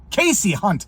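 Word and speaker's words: Kasie Hunt: in on kayy H it's not kayy Casey hunt I zoomed in on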